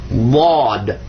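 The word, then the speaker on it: ض: You're doing some stuff in the back of your throat, moving your mouth a funny way, but most people that don't know Arabic, when they pronounce it, they just pronounce another D. But it's not. It's actually Bod.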